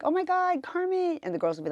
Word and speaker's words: Carmit: Yeah, a lot of people say Carmit because it's spelled like that, but it's a Hebrew name, so it looks like Carmit, but it's Carmit.